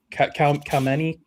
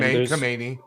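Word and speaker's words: Khamenei: pro I can never say his name right Kmeni how do you pronounce his name Kamani Kamani that's like there's very few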